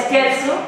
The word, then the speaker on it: scherzo: Lo podéis pronunciar como gustéis, pero se pronuncia scherzo, una palabra italiana que significa broma, divertimento.